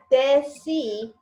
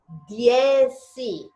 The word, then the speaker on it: dieci: Okay, it's not deci, it's dieci.